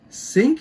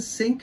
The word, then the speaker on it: Synk: and check it out starting off with espa sync is how you pronounce it sync sync sync winter and yeah sound and check